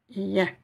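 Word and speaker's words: يا: Vous avez aussi un alif long, donc je vais prononcer ya. Et vous avez, donc en 2 temps, ya. Et vous avez ici la vague. Ce qui signifie, cette vague signifie que nous allons prolonger le son ya 4-5 fois, des fois, selon les règles de Tajwid, entre 4 et 6 fois.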